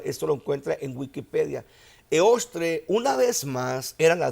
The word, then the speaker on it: Eostre: De Germania, ellos tenían a una diosa, a una deidad llamada Eostre. Se escribe E-O-S-T-R-E.